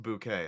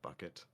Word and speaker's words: Bucket: No, it's pronounced bouquet, honey, not bucket.